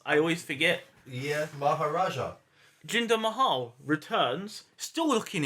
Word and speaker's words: Maharaja: Is that how it's pronounced? I always forget. Yeah, Maharaja.